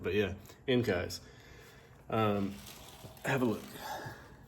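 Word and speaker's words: Enkei: up on these Enkai, which that's kind of hard to pronounce it because growing up these were always called inkies, but then you find out like, oh, the proper pronunciation of things is how you're supposed to say it.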